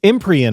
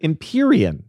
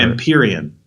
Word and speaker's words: Empyrean: wanted to be sure imperian that's such an official Imperial it's I didn't like saying like it because it sounds like Imperial imperian imperian imperian ises okay Imperial Isles